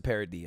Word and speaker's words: Paradis: and mary pronounced just it's vanessa parody okay it's a french name that's when i hated